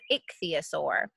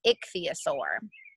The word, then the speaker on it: ichthyosaur: like syllables someone's like she's put them in two syllables it'd be a sore and put them together Ixia sore so when you're reading